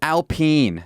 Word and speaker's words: Alpine: quite certain of it this is alpene they are french not alpine it's spelled alpine but it said alpene alpene have they been sued